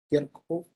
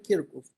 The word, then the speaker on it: Kirchhoff: Y para poder analizar los circuitos necesitamos las leyes de Kirchhoff. Esta es la pronunciación más o menos como se podría representar en español, pero así se escribe el apellido de quien las definió, Kirchhoff.